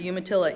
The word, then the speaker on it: Umatilla: It's part of the Confederated Tribes of the Umatilla Indian Reservation, which Bobbie tells me is pronounced umatilla by some people from the south and from east of here.